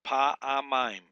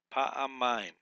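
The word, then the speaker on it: פַּעֲמַיִם: So it's just three syllables. Pa-a-mime. Pa-a-mime. Accents on the last syllable here.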